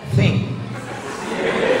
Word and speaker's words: think: thinking berpikir bukan thinking think t t sama H itu bacanya think bahasa Inggris itu ada